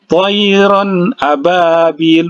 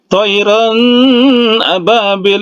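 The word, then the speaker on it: طَيْرًا أَبَابِيلَ: Jadi jangan didengungkan. Toiron ababil, begitu cara baca. Jangan toiron ababil, nah itu salah ya.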